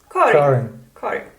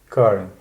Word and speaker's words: Karin: Karin. Karin. Okay. And abroad I'm Karin. It's just easier to say. Yeah, but that's also everybody when you introduce yourself as Karin, everybody thinks it's Karen, and so always when